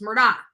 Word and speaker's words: Murdaugh: people are asking is his name Murdoch or Murdock it's Murdock so and you can hear him in his um in the testimony and everything if you listen to how they're pronouncing his name it's Murdoch so it's the murder